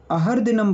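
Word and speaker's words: अहर्दिनम्: दिनम अरहर दिनम बोलेंगे अहर दिनम बोलेंगे ना जो रा की रेफ रहती है जो रा की रेफ रहती है जो ऊपर लगती है उसका बस उसके एक पीछे उच्चारण होता है ठीक है और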